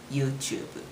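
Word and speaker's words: ユーチューブ: Remember, I don't have that uh to sound in Japanese officially. So, we use ch instead. It's not to, right? So, it's YouTube.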